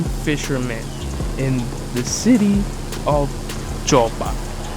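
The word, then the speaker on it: Joppa: You're a random fisherman in the city of Jopa. I don't know if I'm saying that right, but it is spelled J O P A.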